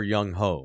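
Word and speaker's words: Younghoe: It's Young Ho. Oh, is it the Asian kicker? I prefer Young Ho.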